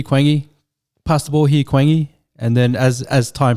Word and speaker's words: Quang: written down in english so my name in vietnamese if you say it's actually pronounced guang that was the struggle